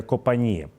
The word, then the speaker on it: Копані: скажу західніше від новопрокопівки ось це є Копані правильно наголос ви мені теж Прописали в коментарях тому що ми тиснемо